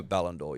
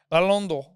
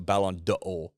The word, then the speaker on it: Ballon d'Or: have to you don't have to pronounce the apostrophe but is it for chicks is it the same they do Ballon d'Or yes Alondo yeah it's not Balon no you're right although